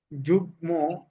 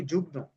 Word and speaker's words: যুগ্ম: উচ্চারণ হবে যেমন সম্মান যুগ্ম উম্মা এই শব্দটিকে আমরা অনেকেই বলে থাকি যুগ্ন অনেকে বলা হয় যুগ্ন মহাসচিব তাহলে শব্দটি যুগ্ন হবে না যুগ্ম হবে বলি আমরা চোখ চোখ